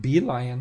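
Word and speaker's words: Belion: That's how you pronounce it. Be lion. All right. This is pronouncing it bellion.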